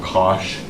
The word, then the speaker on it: cosh: written I don't know cosh of X so right I don't know what say rhymes with gosh I don't know how